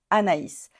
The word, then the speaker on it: Anaïs: a I normalement et on va pas dire an oh anè on va dire a na Anaïs à cause de l'accent tréma comment est-ce qu'on prononce